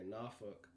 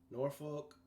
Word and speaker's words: Norfolk: out in norfolk virginia that's how the locals say norfolk norfolk we all got together